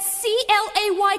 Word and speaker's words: Clay: That C-L-A-Y Clay rhymes with stay away.